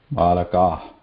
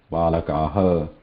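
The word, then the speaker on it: बालकः: So whatever swara is there before that, and the release of breath should continue after that swara. So it should not be pronounced separately as a ha. Kaviha, balakaha, not like that.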